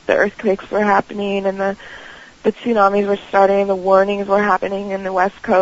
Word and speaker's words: tsunami: basically a tribute to the Japanese, was it Tesami? Is that how you say that? Tesami or Sami or how you say it? Oh, the tsunami and Tsunami, the yeah, earthquake?